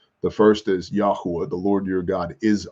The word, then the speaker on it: Yahweh: yod he VAV hey Yahweh Yahweh yahav Jehovah pick a pronunciation although again I'll remind you there's no J in Hebrew um facts look it